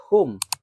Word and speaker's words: whom: Ada lagi whom.